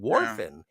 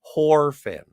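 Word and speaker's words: Whorfin: emelo lazardo or John warin uh he's not or pardon me I meant to pronounce it correctly horin uh he doesn't he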